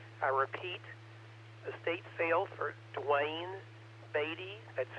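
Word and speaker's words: Duane Baade: Unfortunately, we have a silent key who passed away in January in Louisville, Dwayne Beatty, W5PNM.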